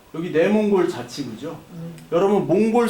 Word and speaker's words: 몽골: 내몽골 자치 그죠 여러분 몽골 사람한테 몽골라 하면 안 돼요 예 몽고는 낮춰 부르는 말이에요 몽골라 보게 예 고라고